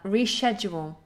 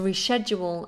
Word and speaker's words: reschedule: Reschedule, to reschedule an appointment, to reschedule. In America, reschedule. So British English, sh, American English, k. Reschedule, reschedule. But it doesn't matter. If you use either pronunciation in British English, it won't really matter.